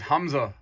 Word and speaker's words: Hamza: um well my real name is uh is Hamza that's my real name okay so H but it's spelled h a m z a that's my